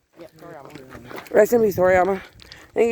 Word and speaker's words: Toriyama: Yeah, Toriyama.